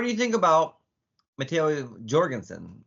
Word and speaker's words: Jorgenson: you think about mat Jorgenson apparently everybody in Europe is saying Jorgenson and they've been told that it's not Jorgenson is the hard G Jenson yeah yeah but